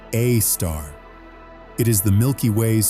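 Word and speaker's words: Sagittarius A*: At the center of the constellation Sagittarius, astronomers have discovered an object called Sagittarius I pronounced a star.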